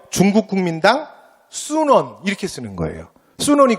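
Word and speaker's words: 孫文: 순원이 그 중국 발음에 비슷하게 표기를 한 거거든. 근데 우리 한자로 읽으면 손문이라 그래.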